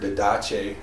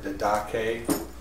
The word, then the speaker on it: didache: It is the Greek word didache, or didache, depending on whether you pronounce it properly or like me.